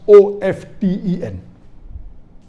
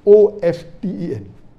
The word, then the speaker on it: often: T is not silent, it should be pronounced. Some say T is silent, and then there's a big debate for that.